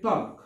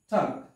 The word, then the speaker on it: talk: তারপর আরেকটা শব্দ হচ্ছে টক, টি এ এল কে, এখানে কিন্তু এল আছে তাও কিন্তু উচ্চারণ হবে না টক।